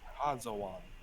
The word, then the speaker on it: Hazawan: Hazawan. Think like has a wand, but has a wand.